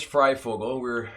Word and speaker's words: FryFogle: Yes, my name is FryFogle. The doctor was having some problems, like most people do, pronouncing it.